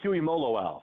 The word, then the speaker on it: Tuimoloau: JT Tuimoloau, 5 syllables.